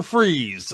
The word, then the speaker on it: Fries: in 1992 as Victor Freeze, spelled like french fries. MY NAME IS VICTOR FREEZE, FOR GOD'S SAKE. IT'S FREEZE, BUT YOU SPELL IT FRIES, LIKE FRENCH FRIES.